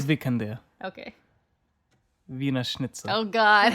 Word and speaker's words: Vikander: Vikander. She's Swedish, so I'm sure it sounds much better than what we're pronouncing it. It's Vikander.